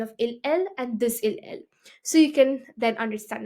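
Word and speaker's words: ils, elles: Now over here, I don't pronounce the S of them. Il's, else. No, it's il, elle.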